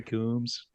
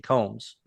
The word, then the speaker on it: Combs: Mordred save us Jeffrey Coombs is it Coombs or Combs I say Combs you say Combs I thought you maybe I was saying it wrong but I think it's Jeffrey Combs you think so do